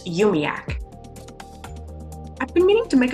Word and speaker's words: UUMUAC: The group also goes by UUMUAC, which they pronounce UMIAC.